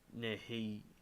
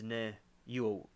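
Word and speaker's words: niuhi: Many Hawaiian families believe that they have an Amakua watching over them and protecting them from the Nehiuhii. Ne, it's Nehiu. I get it. I know how to pronounce it.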